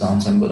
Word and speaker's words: ensemble: en SEM nearly okay actual pronunciation is ensemble ensemble means you're combining different these